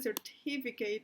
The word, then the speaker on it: certificate: Entonces certificate, empezando que certificate va en la segunda sílaba, no me sirve, ¿sí?